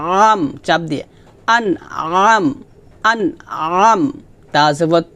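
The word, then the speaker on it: أَنْعَمْتَ: হবে না হবে আম চাপ দিয়ে আন আম আন আম তা জবর তা হরকত টান হবে না আন আম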